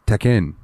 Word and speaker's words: Tekken: I learned today that technically Tekken is pronounced Tekken. Like Tekken. I've never heard an English user double the K like that though.